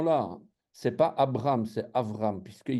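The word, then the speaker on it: אברהם: je dis Abraham euh le texte va nous dire Avraham hein c'est c'est c'est un B en français mais on prononce V hein c'est mais bon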